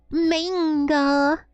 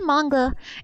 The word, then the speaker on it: manga: She would say manga. And dude, that pissed me off. I was like, "It's not manga. It's manga."